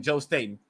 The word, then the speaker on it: Joe Staten: So that's how you pronounce his name, Joe Staten. I asked him, and I think that's how you pronounce it.